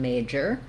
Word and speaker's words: major: are our two syllables we have first syllable stress in major and the letter a says the a diphthong so if we often